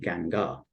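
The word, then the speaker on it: Guingand: It's spelt Gingand, but I believe you pronounce it Gangar.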